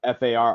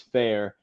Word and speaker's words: Farr: so that's what the f a r r sometimes called far and Swift but the tricky pronunciation if you're in the in club is fair uh and is from